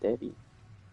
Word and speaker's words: Devi: I think it's the Devai in my head. Devai Devai. But I think they just pronounce it Devi.